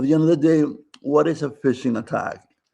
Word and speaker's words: phishing: At the end of the day, what is a phishing attack? Phishing is spelled p h i s s h i n g. Sounds like fishing. It's the same different spelling.